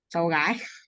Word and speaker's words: cháu gái: Is it And Chow Guy? Sally and Chow Trai? Is that how you say it? cháu gái.